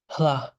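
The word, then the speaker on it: ལྷ: It's pronounced hla. It's almost like the H, the aspiration comes before the la. In a way, it's like they're flipped, right? Because lha, it should be lha.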